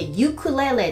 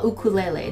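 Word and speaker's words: ウクレレ: 言って、ユクレレって発音しちゃう人たまにいるんですね。でも本当の発音はウクレレで、そのまま、カタカナ読みが合ってます。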